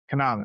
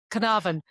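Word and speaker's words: Caernarfon: Canavan. There you go. Canavan. Yes. I'm half Welsh. That's how it's pronounced.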